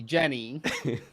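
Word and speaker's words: Genni: And it's spelled with a G. It's just G ne Jenny.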